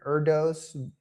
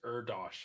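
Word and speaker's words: Erdős: how to pronounce it erdos blooms erdos conjectures okay I think it's erdosh I think erdosh conjecture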